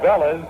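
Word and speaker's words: Vélez: with the loser and here comes Otto Velez or in Spanish is pronounced Bellas the bat for Jim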